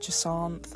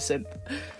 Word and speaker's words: Jacinthe: And today I'm drawing Jasin from Pokémon Legends EA. Uh, I've heard lots of people with different pronunciations of her name. I've heard Janth.